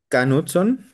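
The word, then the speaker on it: Knudson: Eh, Fernando, el Canutson así se pronuncia, es este hallazgo no tiene tanto tiempo e como uno pensaría.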